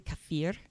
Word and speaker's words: kefir: Now, I do want to say about pronunciation, it's really kafir. Um, but if I said kafir, I would start mixing it with kefir and then I'm going